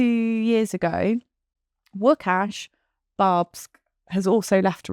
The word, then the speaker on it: Łukasz: So Lucas B, which would actually be pronounced Łukasz B, because it's a Polish name, Polish spelling of Lucas. Łukasz.